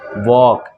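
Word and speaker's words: walk: यू ठीक है ना इसको पढ़ेंगे वॉक क्या पढ़ेंगे वाल ठीक है एल साइलेंट हो जाएगा इसको पढ़ेंगे ठीक है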